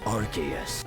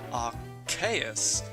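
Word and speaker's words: Arceus: be wrong once again the anime PR archus his name as archus arus well it doesn't matter what I think anyway because my pronunciation is different to both the enime and Pokémon Battle Revolution and chances are it's going to be different to the 3D pokeddex as well so Almighty Pokedex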